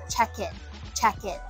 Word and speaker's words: check-in: 咁其实呢度应该系一个连音 check in。